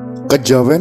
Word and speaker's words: Kejawen: Kejawen adalah kata bentukan yang berasal dari kata kejawian dengan keluasan lidah orang Jawa diucapkan menjadi kejawen.